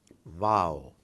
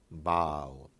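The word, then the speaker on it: واو: I would suggest that it's actually V-A-A-W, Wow. If I put a wow here, which I read somewhere, I would be more tempted to pronounce in English as wow. But this is wow, wow, like V.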